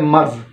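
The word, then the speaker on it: مرض: और उसके बाद हमारे पास एक लफ्ज़ हम अमूमन इस्तेमाल करते हैं मर्ज़। ये लफ्ज़ मर्ज़ नहीं है, मरज़ है। मर्ज़ गलत है प्रोनाउंसिएशन, मरज़ जो है ये सही वर्ड है।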